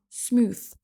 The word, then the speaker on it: smooth: Numéro 51, smooth. Smooth. Attention au th qui est compliqué à prononcer. C'est le même que th que dans thank you et birthday par exemple.